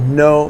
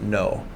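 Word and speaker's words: Noh: And I went to a show called No Theater. No, N-O-H is how it's spelled, No Theater.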